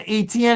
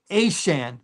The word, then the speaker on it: Etienne: got him Travis Etienne, it's not ATN anymore. It's Ashan. That's how he pronounces it now. Ashan.